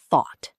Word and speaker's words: thought: Thought, thought. Sounds like thought. Rhymes with caught, bought. Tip, the OUGH here sounds like aw.